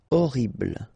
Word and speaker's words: horrible: Okay, remember we don't pronounce H here. Horrible.